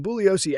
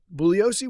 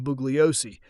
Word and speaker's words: Bugliosi: Bouioscei is spelled B U G L I O SI, but in Italian the letter G is silent. Colleagues and adversaries deliberately pronounced his name Bugliosce, or to really wind him up, they would call him Buggy or Bugsy.